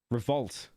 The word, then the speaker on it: Revolut: Stop saying Revolute. How do you say it again now? Revolutees the the credit card. Revolt. Revolt. Not revolute.